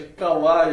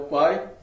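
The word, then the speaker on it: Kwai: Muita gente chama até de Kawaii aqui no Brasil, a pronúncia correta é o Quai.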